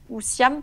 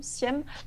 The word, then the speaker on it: Sihem: excuse-moi pour la prononciation du prénom Siem, ou Siam, pardon, Siem.